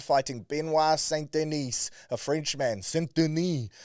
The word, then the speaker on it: Saint-Denis: Saint-Denis, I believe he would probably pronounce it.